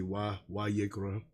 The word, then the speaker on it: Vayikra: It's actually not accurate. It should be Wa. And even when I normally would say it, I would say Wa Yikra.